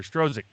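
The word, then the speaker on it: Strzok: even lisa page or peter strozek but i guess it's pronunciated stroke the i don't think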